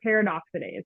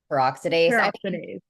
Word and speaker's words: peroxidase: is producing antibodies to fire paradoxides am I saying that right Paradox no peroxidase everybody has different ways